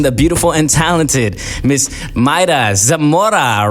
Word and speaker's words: Mayra Zamora: I got the one, the beautiful and talented Miss Mayra Zamora right here in the building. Oh, did I pronounce that right? You got it. Mayra Zamora.